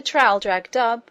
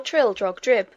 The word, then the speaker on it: Traldragdubh: It contained a warrant for conducting me and my retinue to Traldragdub, or Trildrogdrib, for it is pronounced both ways as near as I can remember, by a party of 10 horse.